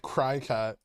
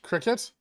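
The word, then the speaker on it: Cricut: ] is up with cry cat did we even watching this ah curious i think so too it makes me sad regardless of my monetary position it's pronounced cricket really yeah i think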